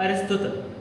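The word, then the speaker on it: Aristotle: العالم الثاني اسمه ارسطو بس بيتنطق ارسطوتل.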